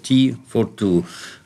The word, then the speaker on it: T42: А читается оно как T42, как чай для двоих.